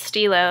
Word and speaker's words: Stylo: for Nars um but I've heard it pronounced in so many ways but it is pronounced Stilo in case you were